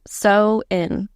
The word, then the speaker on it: Samhain: started off as a festival called sinin sein pronounced so in s m h a i n sag pronounced